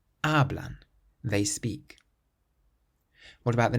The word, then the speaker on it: hablan: So this word has 2 syllables. The syllable before last is actually the first syllable. So hablan, hablan.